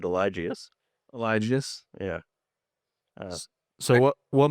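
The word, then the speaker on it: Eligius: It's called Elgus. Is that correct? Um, I think everyone pronounces it differently. I pronounce it Elijius.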